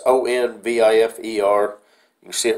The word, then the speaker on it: Onvifer: I'm not sure how it's pronounced, Onvifer, Onvifer. It's Onvifer.